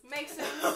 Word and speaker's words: Meiksins: Meiksins. Thank you for saying your last name for me because I would have butchered it.